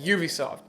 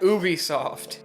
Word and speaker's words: Ubisoft: named it Ubisoft or ubiquitous software so it's pronounced Ubisoft not Ubisoft their first few games were released in the